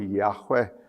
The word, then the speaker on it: Yahweh: Well, the Lord is of course the term Yahweh which is used in the 23rd Psalm. This is the covenant name of God. It's pronounced like a breath.